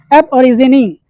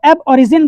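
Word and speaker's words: aborigine: Next है एब ओरिजिनी। इसको एब ओरिजिन बहुत से लोग बोलते हैं, एब ओरिजिन नहीं है। अगर आप ऑक्सफोर्ड डिक्शनरी में इसका प्रोनाउंसिएशन देखेंगे तो एब ओरिजिनी होता है।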